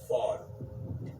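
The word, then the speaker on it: ephod: was called and it's it's spelled EP h o d but the way you say it is fod okay so right here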